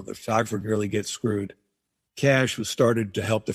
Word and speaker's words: Cache: So it looks like cachet, but it's pronounced Cash Agency.